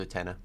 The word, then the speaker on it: Utena: This happened to my friend Dutina one time. It's pronounced Utena.